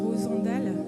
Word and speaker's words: Rosandel: Rosandal. Rosandel. Comme Rosandel. Oui, ouais, Rosandel, ça s'écrit comme ça, mais c'est Rosandal. Ça se prononce comme ça.